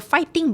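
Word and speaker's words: 파이팅: It's like a fighting, but fighting, because we don't have a F sound. Oh, sorry. But it's so cute. Yeah. Fighting. Yeah, fighting.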